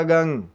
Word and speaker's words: गं: गंगा वाला गंग, पहले भी वीडियो शिव